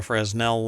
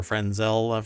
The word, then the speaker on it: Fresnel: very much like a fresnel lens or frenzel fresnel lens yeah I mean that's how it's spelled and pronounced but um or fresnel lens some people say but um